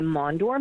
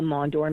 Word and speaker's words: Maunder: It's the Mondor minimum, and the Mondor minimum is that the sun's hot spots are cooling off.